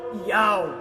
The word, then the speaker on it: Yahweh: O nome do Pai, e é do hebraico, Yod, Re, Vav, Re, o qual aparece 6.828 vezes nos originais hebraicos, transliterado para YHWH, pronunciado por Yahweh, foi substituído por Roma pela palavra Senhor.